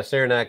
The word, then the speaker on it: Saranac: So this is Saranac. Is that how you pronounce this little town? Yeah, Saranac.